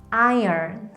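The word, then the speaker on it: iron: 이거 어떻게 잃는 좋을까요 이 단어를 저는 아이 러 므 로 있는 분들을 많이 보았어요 하지만 이 단어의 발음은 아이 얼 입니다 두 번만 읽어 볼게요 아 얄 아이렌 아 이 어 여기에 r 버림이 들어가면서 어 정도로 소리가 납니다 그럼 들 아이 얻느니라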